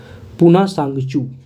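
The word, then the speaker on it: Punatsangchhu: है hydrolytic project हां पूना सांगचू टी यहां साइलेंट रहेगा पूना सांगचू टू हाइड्रोइिक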